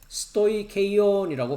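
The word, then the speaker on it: στοιχεῖον: 스토이케이온이라고 발음을 합니다.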